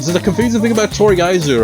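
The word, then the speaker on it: とりあえず: And so the confusing thing about Toriaizu, right? You hear the fuck say Toriaizu, but the syllables in it, one of which is silent, is Toriaizu.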